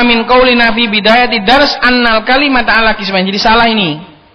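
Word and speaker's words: أَنَّ الْكَلِمَةَ: Innal kalimata ala qismaini. Ini bacanya bukan innal kalimata, ini sebenarnya annal kalimata.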